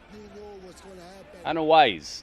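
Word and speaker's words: Anoa'i: 21 Tag Team Championship 21 Tag Team Championships an wise that's how it's pronounced an wise e CU there's so much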